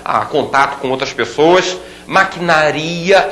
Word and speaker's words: maquinaria: contato com outras pessoas maquinaria e não maquinária maquinaria olha que palavra perigosa essa aí derruba muita gente no concurso todo mundo fala necrópsia não